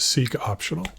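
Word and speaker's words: seqOptional: my Nemesis seek optional I'm going to call it see I'm going to pronounce it seek optional and this one scares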